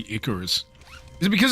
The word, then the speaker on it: Icarus: The ayarus. Oh god. How does he not know how to say Icorus?